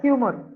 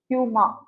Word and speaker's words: humor: at the end, okay, the R that comes at the end is almost silent, okay, அதை வந்து பெருசா நம்ம pronounce பண்ண மாட்டோம், okay, that is how it is.